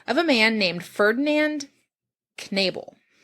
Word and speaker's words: Knebel: He worked as an apprentice in the tanning business of a man named Ferdinand Knebel. I'm pronouncing the K because it's German, because it's K-N. Okay. I think it's Knebel. Whom he lived with during his apprenticeship, which was also kind of normal.